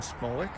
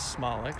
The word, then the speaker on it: Smolik: catcher first base dan smolik number 26 jesse kern we learned today that the proper pronunciation is smallic so been mispronouncing dan's name for a decade second base we got